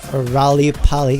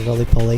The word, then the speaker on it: Roly Poly: And my favorite retro-themed throwback is Tiara and their song Rally Polly, or Roly Poly, if you pronounce it.